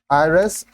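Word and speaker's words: heiress: dash आयस अब देखिए आयरस starts with a silent H एंड a vowel sound so an article is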